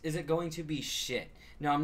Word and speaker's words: Schiit: So it's spelled SCHIIT. They make amazing products. I'll actually have more reviews of their stuff coming up soon. But yeah, it's definitely shit, you know?